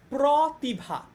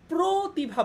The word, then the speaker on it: প্রতিভা: যেমন এইটাকে কিন্তু আমরা বলি না যে প্রতিভা, এটাকে কি আমরা প্রতিভা বলি? এটাকে কিন্তু আমরা প্রতিভা বলি। অটা স্বরে ও যখন ও এর মতো উচ্চারণ হয়, স্বরে অ যখন ও এর মতো উচ্চারণ হয়, তখন আমরা সেটাকে কি বলি?